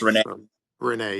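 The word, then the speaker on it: Rayne: it sound oh it's Rene Renee yeah think of Renee I mean she reminded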